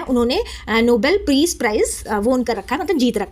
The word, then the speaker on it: Nobel: तो जो नीचे वाला है नो बेल इसमें जो बेल है इस पे हमें स्ट्रेस डाल रहे हैं।